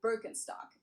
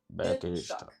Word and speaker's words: Birkenstock: So English speakers usually say Birkenstock. In German we say Birkenstock Birkenstock which literally translates to Birstick.